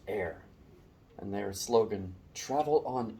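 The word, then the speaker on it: Eyre: one of those um e-y-r-e that's pronounced air and their slogan travel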